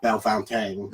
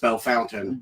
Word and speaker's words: Bellefontaine: in Ohio Bellefontaine and that is how you saying it's not bell famke it's not Bella Fountaine it's just Bellefontaine Bellefontaine and everyone made fun of everyone who pronounced it wrong what was that the